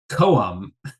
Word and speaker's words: come: My first note is that I've learned in this song that come is actually pronounced koum.